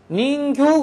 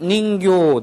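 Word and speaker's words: 人形: 그것은 인형이다, 내 인형이다 이럴 때 할 때는 닌교라고 길게 발음을 해줘야지 됩니다. 그래서 가와이 닌교 데스네.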